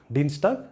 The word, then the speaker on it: Dienstag: And if it appears inside a word, like this, Dienstag and Samstag, then you pronounce it as it is, Dienstag and Samstag.